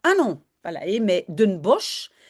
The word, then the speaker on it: Bosch: pas la mais de Bosch. Bosch, on dit aussi bos et en fait le sh à la fin on prononce comme s hein in bos de